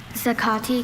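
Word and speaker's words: zacate: There is zakati and zakati.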